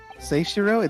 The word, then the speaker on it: Seishiro: It's all thanks to you, isn't it, Seshiro? Is it Seshiro or Seshiro? Seishiro? The EI is pronounced A.